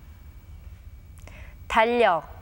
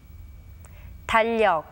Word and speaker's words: 달력: Notice that the letter that comes after the 리을 받침 remains as it is. When the 받침 리을 clashes with the consonant 리을, the latter sound remains as it is and is pronounced as 리을.